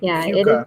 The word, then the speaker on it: Keuka: That's how you pronounce that? Mm-hmm. Okay. Lake Cueca.